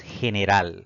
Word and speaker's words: general: La siguiente palabra es general. Si dividimos en sílabas, pues notaremos que tiene 3 sílabas. La mayor fuerza de voz al pronunciar esta palabra recae en la última sílaba contando de derecha a izquierda y no va a